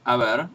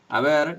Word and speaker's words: haber: So, you had this verb, haber, in the old form, which was a. The H is not pronounced, just like in French, just like in Italian, just like in Latin, and y, which was a word that meant basically there.